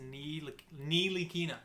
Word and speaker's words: Ntilikina: So Frank's last name is pronounced Ntilikina.